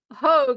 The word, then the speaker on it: Haug: So this is Andrew Haug, if I'm saying it right. He said like Rogue. So Andrew Haug, he is from Australia,